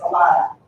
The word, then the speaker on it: Elena: And yes, it is Elena. Don't look at her at the program and say, oh, she's mispronouncing her name. It's Alana.